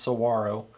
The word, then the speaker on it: saguaro: here we are dead saguero which is pronounced Saguaro uh graph Flex Sinister